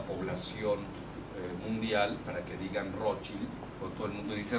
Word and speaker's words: Rothschild: Me dice, no, es Rothschild, porque somos de origen alemán, que quiere decir escudo rojo. Bueno, yo no voy a cambiar a la población mundial para que digan Rothschild, porque todo el mundo dice Rothschild.